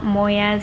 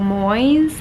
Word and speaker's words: Moyes: pronouncing her name wrong it's not Moyes it's Jojo Moyes like mo Y Z and I read two